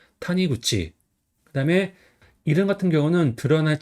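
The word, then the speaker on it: 谷口: 그래서 골곡은 보통 탄이라고 많이 읽어요. 그다음에 이구는 쿠치 또는 구치라고 읽어요. 그래서 여기서는 굳치라고 있습니다. 그래서 탄이 구치.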